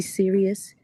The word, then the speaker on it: Cyrus: B Serious, and it's spelled like Cyrus.